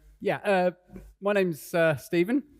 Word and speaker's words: Stephen: uh my name's uh Steven it's quite confusingly spelled with a pH and not a v uh blame my parents